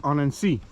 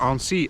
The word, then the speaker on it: Annecy: the end of the lake Annecy, or Annecy as I've been hearing lately the correct pronunciation.